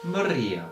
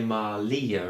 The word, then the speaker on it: Maria: Maria with a. If you can roll your R, that's fantastic. If you can't, you could replace it with an L. So you say Malia instead.